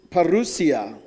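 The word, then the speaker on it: parousia: She's going to regret it because it's a Greek word. It's pronounced perusia.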